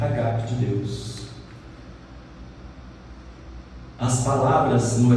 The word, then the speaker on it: ágape: amor entre os irmãos, e o agape é o ágape, que eles chamam aí, que pronúncia certa é agape, que é o amor